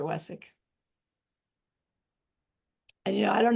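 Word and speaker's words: Vesak: And you know, it's pronounced Wessick. Somehow a W and a V mixed together. Wessick.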